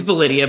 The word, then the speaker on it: Validea: It's Validia, but I think pretty much everybody. I think pretty much everybody mispronounces it, so that's not a Validia.